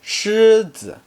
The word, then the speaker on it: 狮: Lion is 狮子. Shi is just a combination of s and r, so it should be pronounced as 狮.